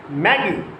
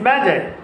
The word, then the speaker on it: magi: It is the singular form, and its plural form is magi, magi. It is not Maggie, it is magi.